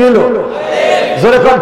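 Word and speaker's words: ألف: প্রথম অক্ষরটা লেখেন একটা টান দেন কি হইলো আলিফ জোরে কন কি হইলো আলিফ আলিফ আলিফ আলিফ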